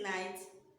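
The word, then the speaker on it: knight: So although it has k at the beginning, but when we were pronouncing it, did we pronounce as night? No, we didn't, because k is silent.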